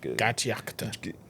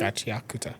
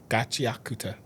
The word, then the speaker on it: Gachiakuta: Um and what's the other show that I can't pronounce it? The GI Gachakuta, is that is that how you pronounce it? Gachiakuta. Gachia. Gachiakuta.